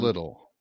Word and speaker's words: Liddell: Liddell, I'm sorry, Liddell, right? That's how it's pronounced in the old country.